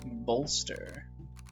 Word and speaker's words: bolster: that's a good upgrade bolster you pronounced the L in bolster unless you pronounce it